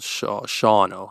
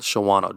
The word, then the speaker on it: Shawano: Bay area in Wisconsin called Shawano. Almost called Shawano. Don't call it Shawano. They get upset. It's spelled Shawano. like that, though. Yeah. Yeah, no. If they wanted Shawano, don't put the W in this.